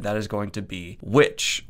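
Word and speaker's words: VVitch: is going to be which or as some people called online vich it might just be me who calls it that it's spelled vv i'm gonna say vovich it sounds cool as with most big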